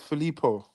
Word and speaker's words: Filippo: It's Filippo. Not Felipe. Sorry. I used to call him Felipe.